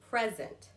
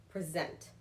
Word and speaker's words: present: With the thing, the gift, I'm putting emphasis on the first part, present. But when I'm doing something I'm presenting to you, it's the latter part or the later part, present.